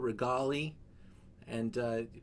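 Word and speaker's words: Regaleali: tosca to amarita from uh this is tunuta regali and please improve my italian pronunciation matthew are you out there i am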